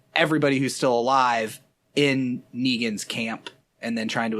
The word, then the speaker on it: Negan: They meet Negan, I think is how it's pronounced. Yes. It's like Megan with an N.